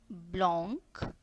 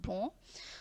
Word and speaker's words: blanc: We never pronounce it blanc. Here we are not having the sound of C. The last C we are not pronouncing. It is only blanc.